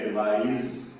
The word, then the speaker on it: advise: ADVICE को बोलते हैं एडवाइस, इसमें स का साउंड आता है एडवाइस, और ADVISE इसमें ज का साउंड आता है एडवाइस।